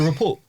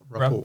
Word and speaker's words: rapport: Rapport. Rapport. I thought it was rapport. Yeah, Rapport, yeah, it's I think it's rapport. spelled with a T, but you pronounce it with just the R.